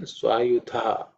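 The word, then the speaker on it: स्वायुध: In terms of pronunciation, Swayudha. Okay, Dha again is the fourth letter in the Tha Varga, so it has to be aspirated.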